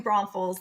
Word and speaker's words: New Braunfels: and raised in New Braunfels there's no s in the middle there we go from the locals yep thank you Michelle